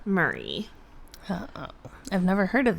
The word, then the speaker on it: Murray: I think it's Murray. That's like how you pronounce that last name. Murray. Yeah, like Bill Murray.